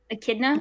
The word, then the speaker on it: Echidna: how do you say the white-haired enchiladas name echidna echidna okay i was close so oh it rounds